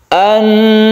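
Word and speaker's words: النار: Kemudian bertemu dengan nun sehingga menjadi idgham syamsiyah. An-nari dzatil waqud. Karena al bertemu dengan nun, maka dia itu ditasydidkan ke nun sehingga membacanya itu gunnah atau berdengung. An-nari dzatil waqud idhum 'alaiha qu'ud.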